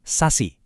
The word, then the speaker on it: SASE: Jawabannya ada pada sebuah arsitektur baru yang namanya Sase. Dibacanya Sasi.